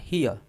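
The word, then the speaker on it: here: अब यहां देखिए जो हियर है इस पे आप चाहे तो आर को यानी कि र को आप साइलेंट भी कर सकते हैं। या फिर आधा र हियर हियर ऐसे प्रोनाउंस कर सकते हैं।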